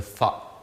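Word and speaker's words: ث: de l'alphabet arabe que pour prononcer cette lettre le sa comme il le faut, il faut mettre la langue entre les dents et faire comme si on devrait dire sa, S-A.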